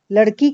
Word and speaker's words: लड़की: किंतु हिंदी मातृभाषा भाषी इस शब्द का उच्चारण लड़की न करके लड़की के रूप में करेगा, अर्थात ड़ व्यंजन के बाद आने वाले अ स्वर का उच्चारण नहीं होगा, ठीक है।